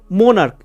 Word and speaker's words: monarch: ওকে, এরপর দেখো মোনার্ক, MONARCH, মোনার্ক, এখানেও দেখো সিএইচ এর সাউন্ড কয়ের মতো আসছে, তার জন্য এরপর শুধু এস যোগ হয়, MONARCHS, মোনার্কস, প্লুরালে মোনার্কস হচ্ছে।